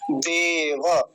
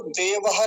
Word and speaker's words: देव: देव, अब इसको देवः नहीं बोलेंगे, केवल देव इतना है।